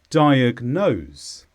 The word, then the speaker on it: diagnose: is a verb and the stress is on nose diagnose this means to identify a